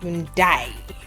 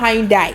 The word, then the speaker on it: Hyundai: So can you please pronounce it properly? Okay. Let's see. Looking at what we're going with Hyundai or Hyundai.